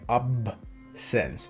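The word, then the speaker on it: absence: questo perché di nuovo la doppia s in italiano non si può dire in inglese perché mi ha detto che si sono due consonanti Scusami ne pronunciano una sola quindi ci mettono una bip una delle S però è di nuovo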